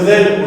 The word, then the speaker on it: ذ: Donc la lettre zel, au niveau de la prononciation, on va placer du coup le bout de notre langue sur les extrémités des deux dents supérieures. Donc avec une fatha, on dira va. C'est exactement pareil que la lettre tha que l'on a vu précédemment, si vous vous souvenez. On place le bout de notre langue sur l'extrémité des deux dents supérieures et donc du coup on va prononcer un petit son de Z.